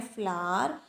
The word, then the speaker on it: flour: और जो सेकंड इन्होंने बात कही, grains powder use फॉर cooking, उसको भी बोलते हैं फ्लावर, लेकिन उसके स्पेलिंग होते हैं FLOUR।